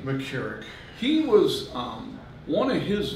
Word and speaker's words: McCarrick: the matter of fact the the Cardinal McCarrick pronounce his name mckarrick he was one of his victims it was